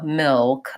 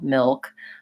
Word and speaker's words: milk: vowel contexts yes and is there a schwa in the word milk that was another question of milk I think so milk I'm definitely kind of doing again that dark L milk this is one where